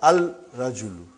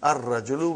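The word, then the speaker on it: الرجيم: our gradual the man not al rajim it will be wrong to say al rajim it will be a gradual we won't pronounce laughs why because it is a son letter and then brother as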